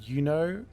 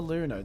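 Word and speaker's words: Iuno: Her her name is pronounced Yuno. Oh, yeah. I get it. But I always call her Luno.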